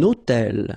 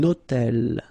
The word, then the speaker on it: hôtel: Un hôtel. So you can see that I'm making this little liaison, this little link between the two. Un hôtel.